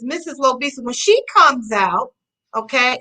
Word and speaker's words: Lobisa: But when she comes out, I say it phonetically, like it's Lo, L-O, and then Bisa, like Lisa, L-I-S-A.